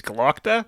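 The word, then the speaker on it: Glokta: Glockter, who I think his name is spelt like a Boston accent person saying Glockta. It's Glockta.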